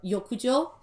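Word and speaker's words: 浴場: so like uh so in japanese like bath out and less are both pronounced as uh yokujo and this actually this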